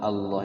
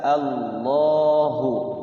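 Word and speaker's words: الله: nallaha kalau nallaha tipis jadi lafaz Allah itu kalau dibaca fathah dengan D maka dia tebal Bagaimana cara menebalkannya itu caranya menebalkan itu lidahnya itu Allah jadi nyentuh ke apa kayak ke langit-langit Ya Allah yang tadinya bawah si lidah ini kayak ngangkat ke atas Allahu Allah ya jangan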